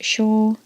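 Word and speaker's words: 小: There's the kanji for small, pronounced sho.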